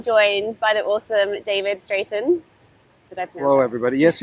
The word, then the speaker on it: Straiton: Um I am joined by the awesome David Straighten. Did I Hello everybody. Yes, you pronounce it correctly.